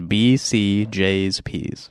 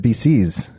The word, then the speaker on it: BCJsPs: yeah yeah so it's the proper pronunciation is BC J's PS bcjs PS so I'm saying it wrong too oh did you what did you say I said BC's okay there's only one C I wasn't going to